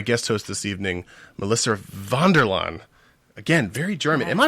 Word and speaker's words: Vanderlan: 40 goodness my guest host this evening melissa vonderlaan again very german am i pronouncing that right yes it's a lot of